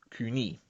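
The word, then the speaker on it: Koine: Roman period or as we should call it Kunie because that's how it's pronounced in coin name since wordplay is important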